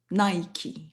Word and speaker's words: Nike: a voulu s'identifier à ses ailes qui se prononcent Nike.